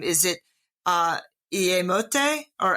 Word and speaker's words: Iyémote: again, but pronouncing your indigenous name, is it Iyémote, or how would you pronounce that? Iyémote. Iyémote.